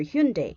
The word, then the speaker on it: Hyundai: Okay, consider the rapid ascent of Hyundai. Okay, or Hyundai, if you want to pronounce it that way.